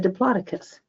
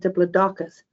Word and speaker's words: Diplodocus: This book says to pronounce it Diplodocus. That's the British pronunciation, according to the YouTube reading I saw. Another book says Diplodocus, so go with what you think is right.